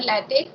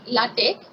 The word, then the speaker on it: LaTeX: It is pronounced either LaTeX or LaTeX.